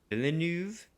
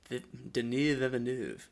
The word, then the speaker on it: Villeneuve: How do you pronounce his last name? I wasn't even gonna attempt. Villeneuve. Denis Villeneuve.